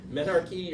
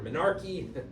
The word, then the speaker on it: menarche: Yeah, menarche or menarche. It sort of rhymes with anarchy, right?